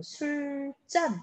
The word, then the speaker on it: 술잔: 자, 술잔. 그럼 술잔 이렇게 발음을 하게 되죠. 된소리 대기가 일어나는 이유는 술을 마시기 위한 잔이라는 목적이 들어가 있기 때문이에요.